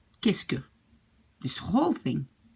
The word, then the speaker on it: qu'est-ce que: So then we have, qu'est-ce que tu manges ce soir? And now really practice to say this thing, because this whole thing is pronounced like qu'est-ce que. This whole thing, qu'est-ce que.